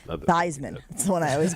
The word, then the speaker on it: Theismann: Theismann for Heisman. That's Yeah. supposedly why he had changed the pronunciation of his last name.